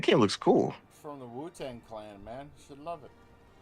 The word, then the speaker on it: Wu-Tang: It's spelled WU-TANG.